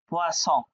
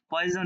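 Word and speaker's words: poisson: ফিশের বানান করতে গিয়ে এটা ছিল ফিশের বানান উচ্চারণ পোয়াছ হ্যাঁ তো আপনি পোয়াস বলতে গিয়ে ভুলে বলে ফেলছেন পোয়াজ হ্যাঁ তাহলে কি হবে আপনার ফিসের পরিবর্তে বিষ আসবে মানে পয়জন যেটা অতএব সাবধান হ্যাঁ ফরাসি শিখতে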